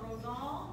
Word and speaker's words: Rosal: a new trick down like the computer rose all some texas rose for all so rosal there you go uh